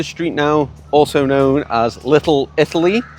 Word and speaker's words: Little Italy: now also known as Little Italy I have to say Little Italy otherwise I Go lit LLY and you probably won't